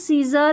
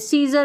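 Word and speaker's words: scissors: सीजर में भी ऐसा है, ठीक है, सीजर में एस सी को क्या पढ़ रहे हैं, स पढ़ रहे हैं, और सीन में भी एस सी को क्या पढ़ रहे हैं, स।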